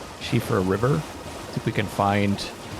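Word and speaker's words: Siofra: if we can find uh go back to shifra that's how it's pronounced shifra River see we can find noon I think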